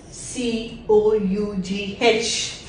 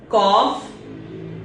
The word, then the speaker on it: cough: is cop so basically we have to produce three sounds it is c o and F just repeat after me cof cough cough cough and